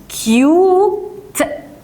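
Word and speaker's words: cute: لا امال بقت ايه ننطقها بقى يو ليه عشان انا عندي حرفين متحركين يبقى انطقها زي اسمها اسم حرف اليو يبقى انطقه يو يبقى هقول كيوت كيوت وطبعا الاي الاخيره دي لا تنطق طب هي لازمتها ايه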